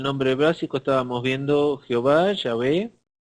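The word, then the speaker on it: Yahweh: básico estábamos viendo Jehová Ya ve la pronunciación exacta parece que los samaritanos son los que tienen la más antigua y mejor que es y ave los judíos ya lo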